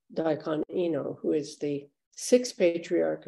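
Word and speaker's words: Daikan Enō: And in Japanese, his name is pronounced Daikon Ino, who is the 6th patriarch of Zen.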